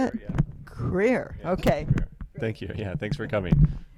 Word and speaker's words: Krier: And on my left is Krier. Is that the right way to say it? Yeah. Krier.